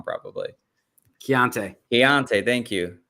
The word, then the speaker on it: Keontae: feel like I'm going to say his first name wrong, but Keaton Ingram. I'm saying it wrong probably. Keontae, thank you.